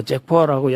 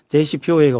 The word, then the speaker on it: JCPOA: 근데 이거는 이제 공동 이행계 JCPOA, JCPOA라고도 하고 뭐 잭포아라고 여러 가지 발음을 해요. JCPOA가 워낙 기니까 이거 해본 거라고 이미.